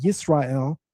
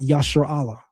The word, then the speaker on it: Israel: There's no Maserites in 1205 BC and the Egyptians are pronouncing it Israel, not Yasher Allah.